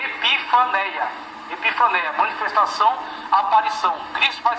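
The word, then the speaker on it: ἐπιφάνεια: Ela se lê epifaneia.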